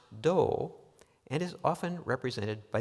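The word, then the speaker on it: 道: It is pronounced do and is often represented by the English words way or path.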